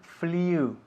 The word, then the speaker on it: flew: No pronunciamos el pasado de fly, flew, ok?